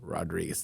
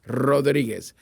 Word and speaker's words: Rodriguez: The R stands for, and you can roll your R's if you want to or you don't. But if you roll your R's with, you've got to roll it with Rodriguez.